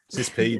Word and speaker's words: CISSP: I mean, I have a CISSP or CISP, or I can't remember how you pronounced it, Desi. We talked about this the other day. CISP, there you go.